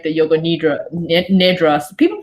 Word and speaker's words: nidra: anybody but the way I was trained it's pronounced Nidrei so yeah I heard of that I was